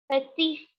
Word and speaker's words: petit: Okay, so when we have a consonant here, we never pronounce that consonant. We always pronounce the last word of last, vowel or word of Okay, so shah, petit, raison, and tabak.